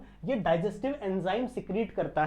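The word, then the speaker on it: caeca: सीका इसका pronunciation सिका होता है।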